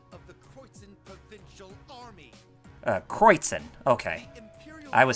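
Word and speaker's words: Kreuzen: Kreutzen.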